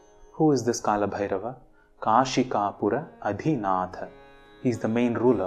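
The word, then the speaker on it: adhinātha: One important thing to note here is the distinction between the pronunciation of dha and tha in adhinatha. It is not adhinadha, it is adhinatha.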